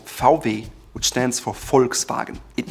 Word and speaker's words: VW: You guessed it, VW. No, not quite. In German it's called VW, which stands for Volkswagen.